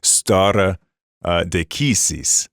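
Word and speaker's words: stare decisis: deasis for our listeners that's Latin it's horribly uh pronounced Latin but that's not Pastor Lang's fault it's just how we all say it it's star deisis but it's in classical Latin you'd say star uh deisis right so to stand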